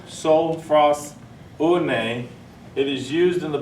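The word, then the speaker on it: sophrosune: And gentleman put up here a while ago, that word is, the actual pronunciation is sophros une.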